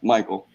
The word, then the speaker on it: Michael: Michael it's pronoun it's it's pronounced Mel in Hebrew but in English it's pronounced Michael oh so you ain't got